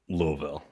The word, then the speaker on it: Louisville: I'm gonna go with Louisville Louisville cuz that's how it's pronounced okay the tax act